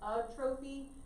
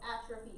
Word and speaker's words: atrophy: I know it looks like atrophy. So atrophy is how we say it though.